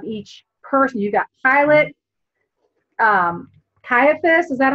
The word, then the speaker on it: Caiaphas: the motivations of each person you got Pilate Caiaphas is that how you say it - yeah